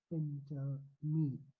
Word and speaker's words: Phentermine: Today we are going to how to pronounce the medication, the weight loss medication. That's Phentermine.